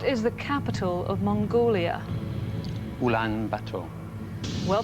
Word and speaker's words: Ulaanbaatar: Ulaanbaatar. Well pronounced, that's right.